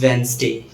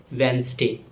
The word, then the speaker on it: Wednesday: Yes, this word is pronounced as Wednesday. Remember that the letter T is silent. So the correct pronunciation is Wednesday.